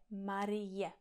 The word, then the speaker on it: Marie: Takže třeba těžší slova jako Marie, j, i, je, Marie.